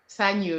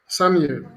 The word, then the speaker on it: Sanyu: How do you pronounce that? As Sanyu? Sanyu, yes. Sanyu.